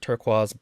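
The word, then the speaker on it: Turquoise: also knows uh Su suie turquaz because they pronounce it turquaz blue who is like um you know a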